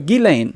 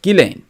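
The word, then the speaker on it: Ghislaine: Gileain, right? That's what we've heard her brother call her. Gileain, right?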